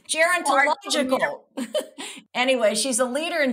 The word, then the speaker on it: gerontological: She's a leader in, now here's a word I never heard before, gerontological. How do you pronounce that? Gerontological? You think that's right? Gerontological? Yeah. It sounds right to me. It's gerontological. It's, go ahead.